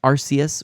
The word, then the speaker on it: Arceus: Weaslink says Arceus with the C pronounced like an S.